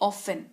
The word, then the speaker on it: often: अक्सर यानी कि ऑफन। टी इसमें साइलेंट रहता है। OFTEN की स्पेलिंग होती है, लेकिन उच्चारण ऑफन किया जाता है।